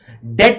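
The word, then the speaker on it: debt: Being unable to पे once डेप्ट। बताएं फटाफट। बीइंग अनेबल टू पे वंस डेप्ट। डेट में बी साइलेंट होता है।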